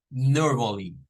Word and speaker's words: normally: lado verdad normally norm nótese que ahí aparece la o gutural es o cultural es este sonido verdad es una sonido de o o o es una o cortada o nor nor no